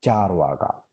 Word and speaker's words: Charvaka: The first one, the Charvaka school. Remember, the spelling of Charvaka is Carvaka, but it is pronounced as Charvaka.